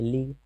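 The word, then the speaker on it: league: फिर लीग, देखिए यहाँ भी है लीग, यहाँ ई के बाद ए है तो ए साइलेंट है, लीग। अब यहाँ भी यू ई साइलेंट है, इसे लीग मतलब संधि।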